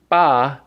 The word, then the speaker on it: 八: the left side there and we have the pronunciation it's actually BA but I wanted to use the the buh